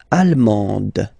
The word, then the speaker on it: allemande: L'Allemagne, allemand, allemande. Okay, same thing here. En, okay, you don't pronounce the final D, but then you pronounce it here for the feminine form.